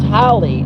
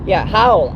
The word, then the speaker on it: Howell: His name's Howley, Howell. I'm sorry, Howell. He used to be in Howell, Michigan. It's spelled Howll, Howell. Not Howley with a Y. Take off the Y, Holl, Howell.